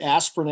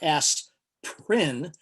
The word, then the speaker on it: aspirin: Now, this is something you may not know, but aspirin actually has 3 syllables. It's not aspirin, it's aspirin.